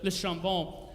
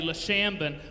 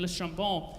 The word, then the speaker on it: Le Chambon: Andre and Magda lived in the tiny French village of Le Chambon. I don't speak French, so that's my best French pronunciation. Normally I would say Le Chambon, but my wife, who speaks French, would yell at me.